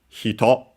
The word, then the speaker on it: 人: Hito, which is quite important, should be unacented.